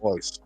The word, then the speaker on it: Royce: he was ho Gracie ho R but it's pronounced ho yeah so he was a little tiny dude